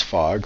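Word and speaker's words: Hfog: My name is Fog, spelled H-F-O-G. The H is silent.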